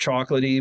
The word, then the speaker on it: CHKLTE: His name it's pronounced chocolatey, but his name is CHKLTE.